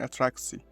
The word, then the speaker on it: attractie: Notice the C or tsi ending in attractie. It's pronounced as tsi in Dutch from the Netherlands and just C in Flemish Dutch in Belgium.